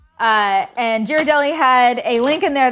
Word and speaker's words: Ghirardelli: and was like, it's Ghirardelli, isn't it? I think you pronounce the G. And Ghirardelli had a link in